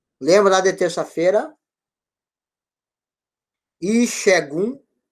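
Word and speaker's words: Ìṣẹ́gun: Porque o S sinalizado embaixo, ele vai dar a pronúncia do X que não existe no Urubá, certo?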